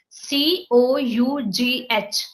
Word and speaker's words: cough: are like um they are like it like c o u g h what we pronunciated CU it's cough no it's cough okay